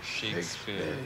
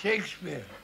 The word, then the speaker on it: Shakespeare: name correct and shakesp or shakespare yes nobody in the Caribbean have I ever heard say shakespare they said Shakespeare they said Shakespeare yes well I would wasn't into Shakespeare NE you didn't go